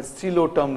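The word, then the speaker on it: Psilotum: एक primitive plant है, सिलोटम लिखते पी से हैं, पी को प्रोनाउंस नहीं करते हैं, साइलेंट है, टर्म है सिलोटम।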